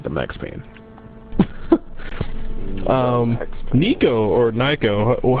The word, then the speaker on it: Nyko: Nico, or Nyko, how do you say their name? Nyko. Was it Nyko? What's it spelled like?